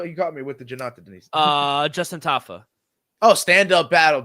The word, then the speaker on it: Jonata Deniz: Yeah, Jonata Deniz. Yeah. Nice. All right, cool. International Fight Week. Do you like that fight? Yeah. Well, who's the first one again, though? You got me with the Jonata Deniz.